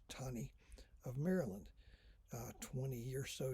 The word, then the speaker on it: Taney: was roger b taney looks like taney pronounced tawny of maryland 20 years